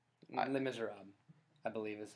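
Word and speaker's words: Les Misérables: Did you pronounce the S? Because you didn't. Les Miserables, I believe, is how it's supposed I was making to be pronounced.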